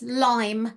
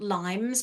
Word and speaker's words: Lyme: did it come from it is lime disease not limes people who have Lyme disease get quite picky about that because people who should know better mispronounce it as limes it is lime disease